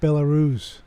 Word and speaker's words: Belarus: Yeah, it's pronounced Belarus.